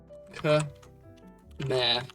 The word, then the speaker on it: Khmer: Khmer is how they said to pronounce it.